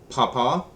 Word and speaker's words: Papa: Lima Mike November Oscar Papa not pop up at papa Quebec Romeo Sierra tango